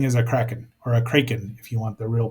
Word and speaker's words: Kraken: Not everything is a Kraken, or a Kraken, if you want the real pronunciation.